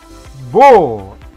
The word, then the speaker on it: beau: Il beau. Akhiran EAU itu dibacanya O ke atas kayak O gitu.